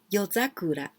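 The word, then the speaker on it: 夜桜: Yozakura. Yozakura. Well, this yo, this kanji you can pronounce yoru, at night. Yoru, at night, and sakura, yozakura.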